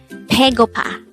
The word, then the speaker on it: 배고파: Baegopa. Baegopa. This is pronounced as a three-syllable word. The first syllable is be, the second syllable is go, the third syllable is pa.